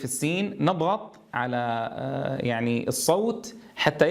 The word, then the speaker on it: السين: بس، لاحظوا وتنبهوا إلى صوت الصفير في السين، نضغط على يعني الصوت حتى يحصل هذا الانحصار للصوت لتحقيق صفة الصفير في السين.